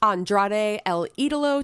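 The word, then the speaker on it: Andrade El Idolo: just in case you don't know how to pronounce Andrade El Italo taking on buddy Matthews in a ladder match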